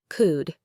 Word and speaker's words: could: Could. You only hear could.